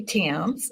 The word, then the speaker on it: Thames: be happy to um I pronounce my last name is Tims it's like the Tims River in England and I am a